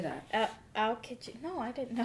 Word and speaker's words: Aokiji: Aokiji.